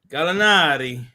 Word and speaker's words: Gallinari: Gallinari.